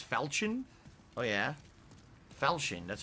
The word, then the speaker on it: falchion: really let's check out these side areas it's pronounced falchion it's not falcon it's falchion oh yeah falchion that's how you say it okay wow i